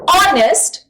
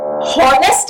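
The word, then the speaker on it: honest: फिर देखो, एन ऑनेस्ट मैन, हॉनेस्ट नहीं कह रहे हम, ऑनेस्ट, ऑ, आवाज किसकी आ रही है यहां पर?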